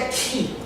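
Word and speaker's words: χ: Não apenas uma relação de uma direção cruzada, mas o quiasmo que vem da palavra ou da letra X do grego, cuja pronúncia é ki, quiasmo.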